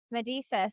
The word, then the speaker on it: Medesis: yep so say your last name for me medisa you said it right okay I said it